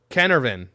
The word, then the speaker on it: Carnarvon: don't know that either it's pronounced canarvan canervan ca canervin easiest way to say it in case you can't